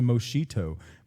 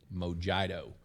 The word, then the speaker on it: mojito: as maybe it's a moshito maybe it's a motherto yeah i'm gonna question your your pronunciation because it clearly says mojito on the can yeah and everything you